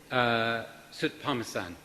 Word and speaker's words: Soutphommasane: And our next speaker is Tim Soutphommasane. I've been practising that, and I'm assured that that's exactly the right way to pronounce it.